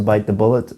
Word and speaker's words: bite the bullet: bullet I chose to bite the bullet and I had to bite the bullet and the correct pronunciation of this is to stress or emphasize bite bite the bullet not